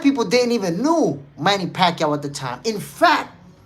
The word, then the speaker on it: Pacquiao: In fact, yo, the announcer was like, "Manny Pacquao." Yeah, Manny Pacquao. They was calling him Manny Pacquao. They didn't even know how to pronounce his name at the time.